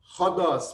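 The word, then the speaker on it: ῥόδος: É esse sinal que vem sobre as letras e que, quando ele é voltado para dentro, ele muda a pronúncia, aí fica rodós, por exemplo.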